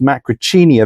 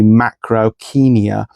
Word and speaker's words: Macrauchenia: Often mispronounced macrochenia. That's how I've said it until very recently. Turns out it should be should really be macroenia.